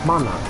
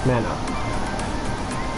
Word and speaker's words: mana: And it's pronounced mana, not mana.